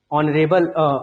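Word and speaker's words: honour: से शुरू होते हैं, लेकिन इनका प्रोनाउंसिएशन में अंतर है। आवर पढ़ा जाता है, एयर पढ़ा जाता है, एरेस पढ़ा जाता है, ऑनरेबल ऑनरेरियम पढ़ा जाता है, ऑनर पढ़ा जाता है, आता है, इसलिए ऐन लगता है, ठीक है।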